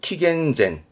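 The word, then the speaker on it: 紀元前: 기점을 중심으로 나누게 되는게 기원전 기원후죠 이때 씁니다 발음은 킥앤젠 물론이 기원이라함은 아노 뭐 종교적인 뜻도 있긴 하긴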